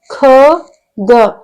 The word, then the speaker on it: ಖಗ: ಜ ಳ ಜಳ ನೆಕ್ಸ್ಟ್ ಖ ಗ ಖ ಗ ನೋಡಿ ನಾನು ಉಚ್ಚಾರ ಮಾಡೋದನ್ನ ಗಮನಿಸಿ ಕಗ ಅಂತ ಹೇಳ್ತಾ ಇಲ್ಲ ನಾನು ಖಗ ಖಗ ಇದು ಮಹಾಪ್ರಾಣಾಕ್ಷರ ಧ ನ